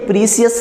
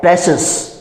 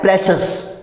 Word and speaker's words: precious: ये प्रीसियस नहीं होता, और इसका एग्जैक्ट प्रोनाउंसिएशन प्रीसियस नहीं है, और इसका एग्जैक्ट प्रोनाउंसिएशन क्या है प्रेशस। बोलना है मेरे साथ, क्या होता है प्रेशस, ठीक है।